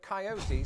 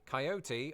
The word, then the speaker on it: coyote: me say the word coyote six times and on each of those occasions I never what the is going on never failed to pronounce it with three syllables but as I discovered